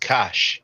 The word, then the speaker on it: Cush: And Cush, we have that term in the Medu Neter, but it is pronounced Kash.